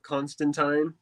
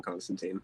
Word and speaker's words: Constantine: That's how I pronounce it the give whole it a time. pass for Joanna Constantine. I like that, but it's John Constantine.